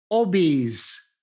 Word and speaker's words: obese: Obese, obese. Ricordatevi, la E italiana deve essere pronunciata E, non ci sono eccezioni.